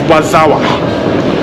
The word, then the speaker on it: Warszawa: So, the Polish pronunciation of Warsaw is Warszawa. Yeah, so if you hear people say Warszawa, they're literally saying Warsaw.